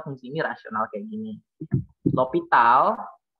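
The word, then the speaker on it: L'Hôpital: L'Hopital, ada yang bilang tuh L'Hospital, tapi kayak gini kan, L'Hospital. Sebenarnya ini S-nya ini nggak dipronounce, makanya ini O-nya ini jadi O dengan asterik kayak head, topi di atas.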